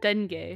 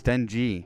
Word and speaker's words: Denji: it do it Den that's how youd pronounce that Denay no it's Den G but if it's a